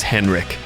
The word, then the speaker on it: Henrik: absolutely love I think his name is Henri at least in American English we pronounce it as Henrik that dude has an